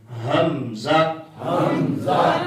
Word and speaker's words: حمزہ: یہ جو اردو میں نام ہوتا ہے نا یہ ہا کے ساتھ ہے, حلوے والی ہا کے ساتھ, تو اس کو ہا نہیں. یہ آگے دیکھیں اس کا تلفظ لکھا ہوا ہے, یہ دوسری ہا ہے دو آنکھوں والی.